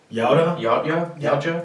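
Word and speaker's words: Yautja: Yauta? Yauja.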